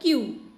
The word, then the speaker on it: queue: और CUE, इसका मतलब होता है संकेत और दोनों का प्रोनाउंसिएशन सेम होता है क्यू।